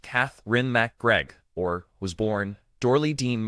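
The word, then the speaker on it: Katherine MacGregor: Catherine Mcregor, pronounced Cath Ren McGregor, or was born Dory Dean McGregor on January 12th, 1925 in Glendale, California.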